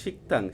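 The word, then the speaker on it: 식당: স্থান হয়ে হোয়েসা কোম্পানি এক নাম্বার হোয়েসা কোম্পানি শিকতাং শিকথাং শিকথাং শিকতাং শিকতাং শিকতাং এখানে শিকতাং কেন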